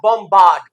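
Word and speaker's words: bombard: Brittle British British English तो ये बोलेगा बमबार्ड और बम अब ये ओ को आ कर देगा और ये आर हमेशा बोलेगा तो ये हो गया बामबार्ड बामबार्ड बामबार्डमेंट है है ना गोलीबारी।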